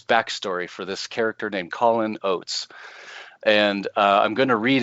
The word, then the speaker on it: Callin Oats: and we recognize that, Callin Oats, it's CALLIN apostrophe, rhymes with Hall and Oats, Callin Oats.